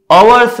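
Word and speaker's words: hours: अवर्स लिखा है, यहाँ पे एच साइलेंट है, एच के बदले हम यहाँ पे अ बोलते, अवर्स अ से चालू होता है, तो अ क्या है,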